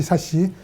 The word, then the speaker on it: SASE: 굉장히 이례적인 거는 사용자들을 혼돈하지 말라고 발음까지 정해주었는데요. 세시라고 읽도록 되어 있습니다. 근데 저희가 영어 문화권이 아니기 때문에 여러 사람이 세시, 사시 여러 가지로 얘기를 하고 있지만 기본적으로 세시라고 읽는 게 일반적인 권고안이고요.